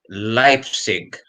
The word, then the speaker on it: Leipzig: It's Leipzig. I didn't even know that. Yeah. I was calling them Leipzig like everybody else.